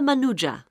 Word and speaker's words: Manuja: yes of course sorry my name is manuja uh can you spell that please m a n u j a